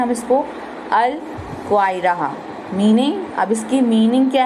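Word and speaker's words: القاهرة: Pronounced कैसे कर सकते हैं हम? अल, उसको क्या और क्या कहते हैं हम इसको? अल क्वाइरा।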